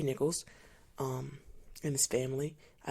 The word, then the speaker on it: Nichols: rest in peace Tyree Nicholas I think pronounce his name Nichols I'm sorry Tyree Nichols um and his family